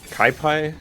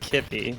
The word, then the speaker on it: Kippy: Um, so we got a is it Kai? I don't know how to pronounce but uh sorry it's Kippy, but so I'm not